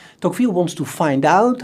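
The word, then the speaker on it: Tocqueville: in the possession of the dockfield family americans pronounce his name as togel but i will use the french pronunciation tokville not so much out of snobbism but simply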